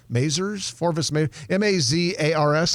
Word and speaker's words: Mazars: At any rate, this company is called Forvis Mazars, M-A-Z-A-R-S. How would you pronounce that? Just like you did. Forvis Mazars. Like it sounds.